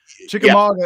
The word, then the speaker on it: Chickamauga: lake in the country you wonder how you pronounce it chickamauga is a is a native american word meaning